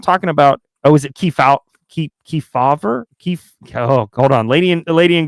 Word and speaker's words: Kefauver: And we're not talking about, is it Kefauver? Oh, hold on. Lady in Gray gave me the pronunciation. Kefauver.